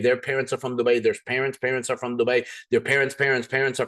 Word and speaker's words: Dubai: wanting to correct me I promise you it's Dubai everybody has this thing of no maafi you're saying it wrong no no trust me